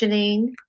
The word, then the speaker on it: Jeanine: today somebody really special janine am i pronouncing your name correct janine yes yes she is here today the topic